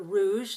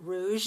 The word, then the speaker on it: rouge: The word rouge is French for red, like this red stripe. So rouge, we use this j at the end of rouge and garage.